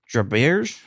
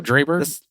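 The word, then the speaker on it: Dreiberg: David Draberge? I could never say his name. Oh, Draberg? Yeah, Draberg. That's it.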